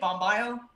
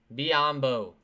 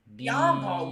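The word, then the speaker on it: Biyombo: How do you say it? Bambayo? Biombo. Biombo, man. Biombo. Biombo. I got it. Okay. I got it now.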